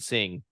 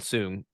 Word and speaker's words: Singh: stuff of being a noonian Singh arnonian soon yeah soon yeah soon I've heard it pronounced both ways but anyways her lineage